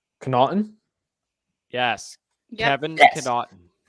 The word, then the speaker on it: Connaughton: I can never pronounce his name. Connaughton?